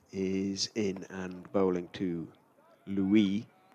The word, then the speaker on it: Louis: Lewis Rees is in and bowling to Louis Kimber. Doesn't pronounce the S.